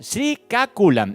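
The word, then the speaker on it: Srikakulam: la India, Odilla en los distritos de Gajapati, Sriaculan, ¿no? Sri, ¿cómo es? Sriaculan. Exactamente. Acá me están ayudando porque es difícil estos pronunciar en el dialecto que están hechas estas ciudades, ¿no? Sriaculan Chinapalia, Loturu Andrapradesh, así se llaman las ciudades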